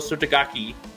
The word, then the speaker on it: Derma Sotogake: you I think dermal subtagaki I'm gonna say you gotta say it like that gaki is is actually legit like I think he's